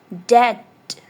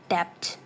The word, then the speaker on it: debt: Debt, not debt. Debt. B is silent.